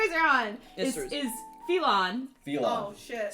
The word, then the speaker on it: Phelon: The continent you guys are on Yes, is Phelon. Phelon. Oh shit. Spelled Phelon. like felon. It's Elvish in part. It's partially Elvish in etymology. It is fuckers. It spelled like felon. Is it Elon. It's Phillon.